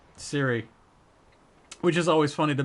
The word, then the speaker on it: Ciri: Yeah, it's but it's spelt with a C. C-I... Because her name is Cirilis, right? Is her full name? So it's C-I-R-I. But I always feel like... No, it's Siri.